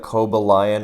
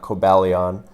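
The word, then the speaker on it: Cobalion: that stuff you know i've never heard anyone call it koba lion until now but i just realized that's absolutely how you say it and not kobaleon but uh kovaleon is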